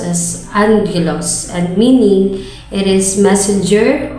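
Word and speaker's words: ἄγγελος: comes from the two Greek terms namely agos pronounced as Angelos and meaning it is Messenger or Angel and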